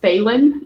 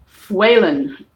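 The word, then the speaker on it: Faolán: His name is Waylon. It's Gaelic, means little wolf. And it's sometimes, I think it's usually pronounced Phelan nowadays, but there is a fada over the A, so it's pronounced Fwaylon.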